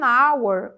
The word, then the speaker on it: hour: aqui também é an hour uma hora an hour tem um h ali mas ele é mudo né tá com som